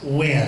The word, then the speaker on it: Huynh: we have a candidate whose last name is pronounced when this is an important time in the